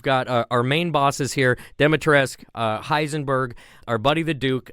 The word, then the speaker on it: Dimitrescu: It made me sad, like Lady Dimitrescu. Dimitrescu. Will's our expert. How do you say it, Will? Dami Mommy. You know what? She's Dami Mommy.